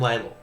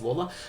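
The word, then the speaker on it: Lalor: The next one is going back to my club Richmond midfield forward Sam Leel or Lawler, sorry, stupid way of pronouncing his name, but that's fine. It is Lawler.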